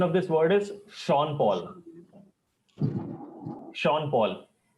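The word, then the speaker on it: Sean Paul: n p a l actual pronunciation of this word is sha Paul so this is how it is you have to instead of getting deeper into this just understand and learn this pronunciation PA is not SE PA actually it is sha Paul similarly this it is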